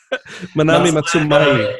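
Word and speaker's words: Manami Matsumae: depth, like Christopher Larkin on Hollow Knight and Manami Matsumoi. Damn it, I got her name wrong. Manami Matsumai.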